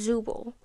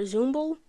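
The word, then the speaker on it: Zooble: to say her name it's zubo is that really her name I don't know why I thought there was like an m in there zumble no what zubal okay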